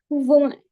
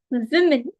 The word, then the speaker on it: women: For women, the correct pronunciation of this word is Women. It's not woman. It's not anything else. It's women. W, short E, M, short E, no.